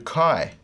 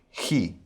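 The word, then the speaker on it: chi: f that's phi or next we come to kai or he if our line is here this is a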